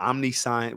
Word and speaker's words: omniscience: All right, so it's pronounced omniscience, but it's one word, OMNI, and then science.